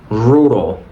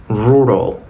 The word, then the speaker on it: rural: Entonces vamos a decir rural. Rural, no rural.